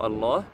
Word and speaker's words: الله: Il faut savoir ici, il n'y a pas alif. Vous le voyez bien, on n'écrit pas alif au niveau du mot Allah. Mais on prolonge. C'est comme ça que ça se prononce en fait.